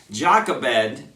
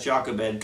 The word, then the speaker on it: Jochebed: my names straight because it's pronounced differently in English and in Spanish and I go backwards and forwards but Jacques Abed is the best I can come up with and so we're gonna